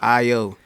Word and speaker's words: Ayo: I'm like, right under my name I say pronounce IO. Don't butcher it.